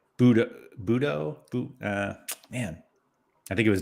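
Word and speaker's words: Bodø: Oh, Bodo. Or no, somebody taught me how to pronounce that, and I've already forgotten. Oh, is there another way of saying it other than Bodo? But it's like Budo.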